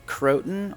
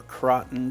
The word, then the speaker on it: croton: as some cypress mulch a croton or croton depending on how you want to pronounce it a creeping jenny and